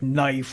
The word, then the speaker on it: knife: they sound different uh like knife where you've got a k n and it's like how in the world you get that out of that and yeah yeah it's